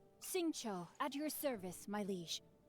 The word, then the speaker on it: Xingqiu: I keep forgetting how to pronounce his name. Xingqiu, at your service, my liege. I humbly trust that even one such as I... Xingqiu.